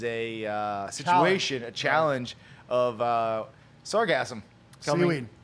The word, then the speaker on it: Sargassum: Well, there's actually two ways to pronounce it. Sargasso and sargassum. Right. I always do sargasso and I drop the M.